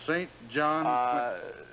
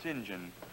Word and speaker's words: St John: it right here uh your name is St John what's the matter well sir no disrespect to the pink well is your name St John Quincy or ain't it it's pronounced singen singen sorry sir but